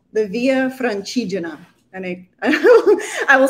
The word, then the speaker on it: Via Francigena: pilgrimage route that went to Rome called the Via Francigena. And I will spell that for everybody's benefit because it probably just sounded like I sneezed.